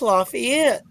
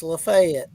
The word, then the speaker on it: Lafayette: in Georgia you know whereas in Louisiana and Indiana it's Lafayette in Georgia it's Lefay spelled exactly the same way yeah are any